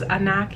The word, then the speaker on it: Anok: is named after this supermodel um anak i believe is a knock yeah y-a-i is how